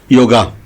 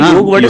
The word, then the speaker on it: योग: योगा योग करे। योगा कोई वर्ड ही नहीं सर। योग वाले संस्कृत में ये योगावगा तो इंग्लिश